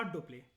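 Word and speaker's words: Dupleix: ये हमने एनसीईआरटी में पढ़ा था, इसका नाम है ना डुप्लेक्स। इसको प्रोनाउंसिएशन में से एक्स साइलेंट होता है और आई भी साइलेंट होता है, तो डुप्ले बोलते हैं, डुप्लेक्स बोलो।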